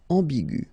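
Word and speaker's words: aiguë: and it will become igu okay so you don't modify the way to pronounce them you only need to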